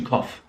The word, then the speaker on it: cough: moment with kovid to cough um so the pronunciation of o-u-g-h there is off it's quite simple but